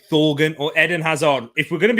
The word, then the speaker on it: Thorgan: And Bobby coming in saying Thorgan or Eden Hazard. If we're going to be honest, right now, it's definitely Thorgan or Torgan. I'm sure it's pronounced. I think it's actually pronounced Torgan Hazard.